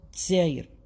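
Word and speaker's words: الجزائر: In Algeria, in formal Arabic, it is al-Jazair. But in their accents, they call it Tzair.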